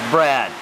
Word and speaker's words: Brad: name is sir yes my name is brad it sounds like bread but it's not the same it's spelled yeah yeah